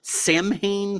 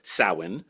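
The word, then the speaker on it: Samhain: more the gorgeously autumnal Sam Hae 3 November coming Fire by Glenn danzig's Stellar post Misfits project Sam ha which should properly speaking be pronounced sawin but is not Sai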